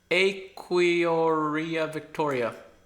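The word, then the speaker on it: Aequorea victoria: scientists, and they used, I think I pronounced it wrong at the beginning of the video, but it's Equioria Victoria.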